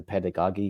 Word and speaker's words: pedagogy: I couldn't pronounce it it was because of the double G it's a pedagogy Gaga is a pedagogy it's there's a j it's so the G the second G is actually with a J so it's